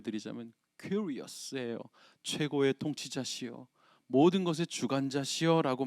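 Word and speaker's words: κύριος: 헬라어로 굳이 한 번만 발음해 드리자면 큐리어스예요.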